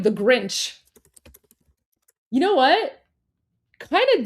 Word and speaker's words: Grinch: So we would pronounce So in Persian we would we wouldn't say Grinch, we would say Ginch because remember it's the two it's the two consonant rule, right?